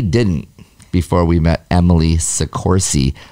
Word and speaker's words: Soccorsy: before we met emily sikorsi like horsey with two c's too by the way